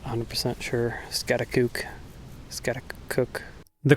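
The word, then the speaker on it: Schaghticoke: Well, I'm up on Scatakuk Mountain. I believe that's how it's pronounced. Not 100% sure. Scatakook. Scatak. The correct pronunciation is scatakoke.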